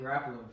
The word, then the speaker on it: Garoppolo: I know you're a Jimmy Garoppolo fan.